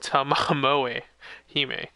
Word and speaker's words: Tamamo Hime: Pronounced Tamamoe Hime.